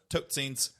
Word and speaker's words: totsiens: Totsiens. That's goodbye in Which Afrikaans. sounds an awful like dead scene. Tot ziens.